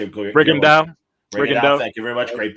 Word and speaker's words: Rigondeaux: Rigondeaux.